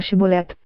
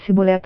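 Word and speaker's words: שיבולת: pronunciar a palavra hebraica shibolet, que significa fluxo. As pessoas de Gileade pronunciavam-na com o som CH, enquanto os efraimitas não conseguiam fazer o chiado. Assim, qualquer um que falasse Sibolet ao invés de Shibolet foi morto no local.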